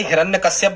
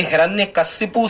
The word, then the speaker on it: हिरण्यकशिपु: फिर ये हिरण्यकश्यप वाला स्टूडेंट्स जो है, ये हिरण्यकशिपु सही है, हिरण्यकशिपु सही है। क्या है सही, फिर से सुन लें आप, ऐसा ही इसका उच्चारण करें, हिरण्यकशिपु।